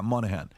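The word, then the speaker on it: Moynihan: do you say his last name Daniel Patrick Monahan yeah Monahan in 1965 nearly 25% of black children will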